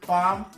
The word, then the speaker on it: palm: On ne va pas prononcer elles dans talk, almond, salmon, palm, yolk, balm, walk and shark.